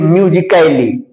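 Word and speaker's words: musically: क्योंकि नियम कहता है कि अगर ए लेटर के बाद एल एल वाई आएगा तो उस ए लेटर का उच्चारण नहीं किया जाएगा।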